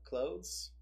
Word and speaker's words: clothes: teach yeah you can you can sort of skip the th sound and get away with it so clothes clothes clothes so it's more like closing closing the door but you have to say it slowly so like you can pretend that there used to be a th now that you're not saying it so it's like close no clue easy that's